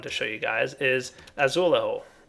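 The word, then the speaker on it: azulejo: show you guys is azul or azulu as I'm told it's pronounced don't look at me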